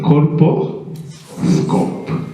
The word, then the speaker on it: colposcope: district govern I have issues with some members pronouncing that word uh but it's called a Coro scope yes and some call it aosc ccope is